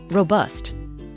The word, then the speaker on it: robust: or hearty pasta sauces we stress the word on the first syllable robust it felt really robust